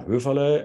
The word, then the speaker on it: Höferle: my name is ruvale and that would be the German pronunciation of my name um I live in